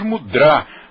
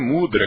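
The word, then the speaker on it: mudrā: então mas é que nós no s yoga pronunciamos mudrá mas nós temos escutado muito as pessoas pronunciarem mudra quer eu quero saber qual é o certo e aí ela disse olha m mudra é outra coisa E aí todo mundo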